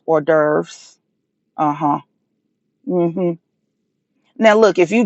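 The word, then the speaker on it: hors d'oeuvres: restaurants asking about uh what a what a horse the overs hor the over over and not knowing that it's pronounced or deres uhhuh now look if you genuinely swirling and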